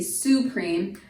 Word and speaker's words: supreme: be su cream but keep in mind that's the emphasis or the accent is on the second syllable cream and the first syllable then is going to be unaccepted or unstressed okay so because of that that Yi takes on the schwa sound which typically is the